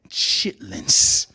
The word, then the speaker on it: chitterlings: That's spelled chitterlings. No, it's not. It is spelled chitlins.